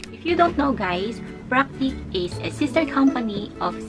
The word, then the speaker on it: Practk: me a package if you don't know guys practice is a sister company of Sigma Beauty let's